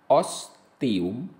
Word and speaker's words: ostium: Namun, untuk kata-kata seperti ostium, TI masih diucapkan sebagai TI, ostium.